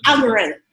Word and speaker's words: algorithm: And so that's how the, analytics? Algorithm. That's how the algorithms, is how you say it? Algorithm.